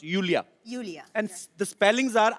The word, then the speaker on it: Iulia: pronounce Yulia. Yulia. And the spellings are IULIA. LIA. So I Thank क्यों God मतलब? you know. I mean, why I? Thank God. Everyone is calling me Lulia, Lolia.